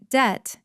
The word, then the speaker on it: debt: Debt is money you owe. Money you have to pay back. And careful listeners, the B in debt is silent.